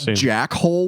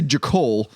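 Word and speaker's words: Jachol: Because I don't want to call it Jackhole, which is how it's spelled, but I'm going to say Jakol.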